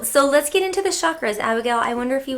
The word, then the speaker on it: chakra: it right which is c a together in Sanskrit is cha and chakra so that's